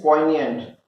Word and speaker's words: poignant: Yes, your spelling is poignant.